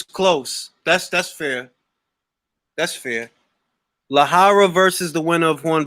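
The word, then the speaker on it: Lejarraga: Lahara versus the winner of Horn versus Zoo. Is that how you pronounce that? In Spanish, yeah. That's how you say it in Spanish, because he's from Spain.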